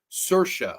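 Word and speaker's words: Saoirse: have to watch it her say name is pronounced cersa okay cersa Ronin so sorry if I mispronounce anoun that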